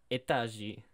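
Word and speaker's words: Этажи: is pronounced etaji, as Google Translate tells me.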